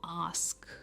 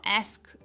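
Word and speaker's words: ask: Next क्या आप कहते हो, आस्क, इट इज आस्क। हम स्ट्रेस करते हैं आस्क, नॉट एस्क, इट्स आस्क, पूछना।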